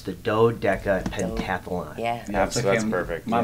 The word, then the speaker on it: Do-Deca-Pentathlon: potato potato you know it looks like a dew but it's really a dough yeah there's no deer